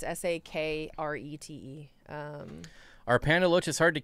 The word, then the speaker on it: Sakrete: Sakrete is how you say it. Yeah, Sakrete. Secrete. Not like secrete, but Sakrete.